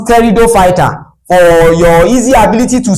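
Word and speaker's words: Pteridophyta: It is pronounced terido fighter for your easy ability to spell.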